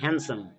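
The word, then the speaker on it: handsome: এটা আমরা হ্যান্ডসাম পড়ছি, কিন্তু এটা হ্যান্ডসাম নয়, এটা হচ্ছে হ্যান্ডসাম, ডিটা কিন্তু এখানে উচ্চারণ হয় না।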